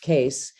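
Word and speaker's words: Kees: Just in case you're wondering, my name is spelled K-E-E-S, and everyone says Case because it's Dutch, and the two E's in Dutch make an A sound.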